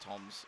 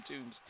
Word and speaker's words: Tombs: And if anyone watching at home is going, but it's spelt Tombs, I spoke to his mum last weekend and it is pronounced Toms. They just basically have gotten used to everyone calling him Tombs.